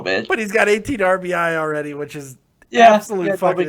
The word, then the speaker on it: RBI: But he's got 18 RBI already, which is absolute fucking insanity. And by the way, that is how you say it. It is RBI, not RBIs. You don't say runs batted ins.